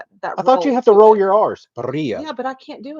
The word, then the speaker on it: birria: Haha, birria. You got to roll your R's.